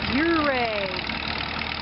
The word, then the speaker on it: Ouray: We're in the town of Delta on the way to Ouray. That's how you pronounce it.